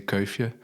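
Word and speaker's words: Kuifje: Tintin is very famous, although in Flemish we say kia, which has no meaning to you guys.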